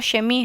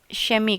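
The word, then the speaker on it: Chemie: यहां पे जो फ्यूज़िक है और शेमी है इसे शमी कहते हैं। ठीक है? शेमी और शेमीकर शेमीकर प्रोनाउंसिएशन पे भी आप थोड़ा सा ध्यान दीजिए ना।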